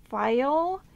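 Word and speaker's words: Pfeil: So anyway, the tools that I am getting, they are from a company called File, and that is spelled P-F-E-I-L, I'm pretty sure.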